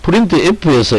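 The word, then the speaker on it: printf: 그리고 프린트 F 함수는 뭐다? 프린트 F라고 읽으면 되더라. 포매티드 이렇게 안 읽고 프린트 F라고 이렇게 읽으시면 되겠습니다.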